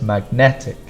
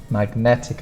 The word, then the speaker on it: magnetic: IC and for pronunciation the stronger sound is this second syllable the net so it's magnetic magnetic effects basic basic this